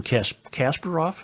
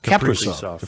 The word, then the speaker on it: Kaprizov: But you've got a wonderful Wild team with an exciting superstar player in Kasparov. How do you say his name? Kaprizov.